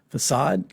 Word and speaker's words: facade: is going to be like a facade that is spelled f-a-c-a-d facade look that up and basically what it means